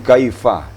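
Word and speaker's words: كيف: Kemudian kaifa. Kaifa, bibir harus direnggangkan bacanya. Fa, kaifa. Kemudian yasha, makhrajnya antara lidah dan langit-langit tengah.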